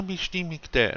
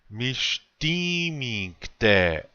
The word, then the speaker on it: Mishtimingte: Wana mishtimingte, and then I will fall asleep now. Okay, let's say this word. Mishtimingte. Again, the accent or emphasis is on the second syllable.